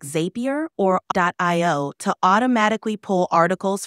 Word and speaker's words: Zapier: a more French zapier it's commonly pronounced as zapier like happier their tagline even plays